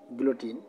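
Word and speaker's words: guillotine: 68 নম্বর যেটি রয়েছে শুদ্ধ বানান সেটি হচ্ছে বুলেটিন, যার অর্থ শিরোচ্ছেদ যন্ত্র, ডাবল এল ব্যবহার করা হয়েছে, গুইলোটিন উচ্চারণ করে গু ইল লোটিন, গ্লোটিন, এটা মনে রাখবেন।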